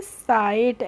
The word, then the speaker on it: sight: Simple सा rule है, जब भी किसी वर्ड में IGHT एक साथ आते हैं तो उनका प्रोनाउंसिएशन हम करते हैं आइट। क्या करते हैं? आइट करते हैं। इसीलिए SIGHT को हम पढ़ेंगे साइट।